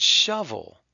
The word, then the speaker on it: shovel: Now what's weird about this is that shovel doesn't have a U. When we spell it, we just use an O, but we're making the short U sound.